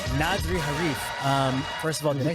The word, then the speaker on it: Nadzri Harif: Nadzri Harif. First of all, did I say that correctly? It's always a thing in my head to make sure that I pronounce people's names. Nadzri Harif.